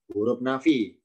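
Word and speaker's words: حرف نفي: Yang pertama la dinamakan huruf harfu nafyin, tulisannya harfu nafyin tapi membacanya huruf nafi.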